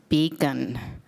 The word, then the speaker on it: BCAN: So the name of our organization, the Bladder Cancer Advocacy Network, BC AN, is pronounced beacon like a beacon of hope, a beacon of light.